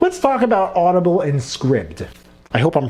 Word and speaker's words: Scribd: Scribd or Scribe? It's pronounced Scribd, so if you and